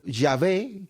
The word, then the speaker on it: Yahvé: pronunciaban sin vocales y como no se escribían las vocales de esta palabra el pueblo no sabía cómo sonaba cuál era su fonética es más probable que haya sido yahvé que Jehová los Testigos